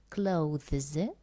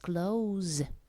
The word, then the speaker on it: clothes: We do not pronounce this E sound, so you can say clothes or just clothes.